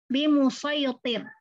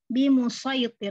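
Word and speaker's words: بمصيطر: Di situ hurufnya shad memang harus dibaca shad. Bi musayyitir ya, bi musayyitir, enggak boleh dibaca sin.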